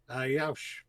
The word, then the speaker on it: Yauch: And I'm especially glad that I took the time to actually learn how to pronounce his name correctly. Which is what again? Assuming. How do you say it again? Yaush.